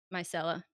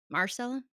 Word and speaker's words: Myrcella: from doing that to Myrcella? Marcella? Micella? Myrcella, MYR. Marcella, okay. So, Frankincense and Myrcella. frankincense, and I like that, I will never mispronounce that one again.